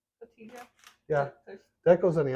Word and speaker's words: Cotija: Cojita. Cotija.